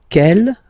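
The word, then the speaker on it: quel: same way and then the feminine form is written like that q l l but it's pronounced like the masculine form Kell at the masculine k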